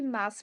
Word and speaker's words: Maas: Meus. Yeah, Meus. I think, Yes. yeah. Let's just say Maas. That's the pronunciation in Dutch, which I didn't